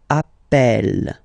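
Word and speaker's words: appelle: the pronunciation of uh you tend to pronounce it like e e really open that's the reason why you pronounce it Appel Appel okay Appel Appel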